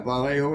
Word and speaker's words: Vallejo: Ballejo is pronounced.